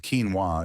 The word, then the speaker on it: quinoa: We're talking about quinoa. Quinoa, pronounced quinoa, is often mistaken for a grain, but it's